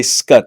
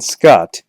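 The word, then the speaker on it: Scut Farkus: is cool scut farcus I say scut I've been saying Scott but I understand it's actually scut or at least that's how it's spelled look at that skin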